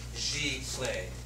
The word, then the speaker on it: giclée: So we're going to go over the history and the origination of the term Giclee, and that's how it's said, Giclee.